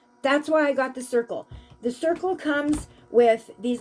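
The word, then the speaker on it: Cirkul: so go get us go get a circle okay it's spelled c-i-r-k-u-l if you can't see that go get a circle start drinking your water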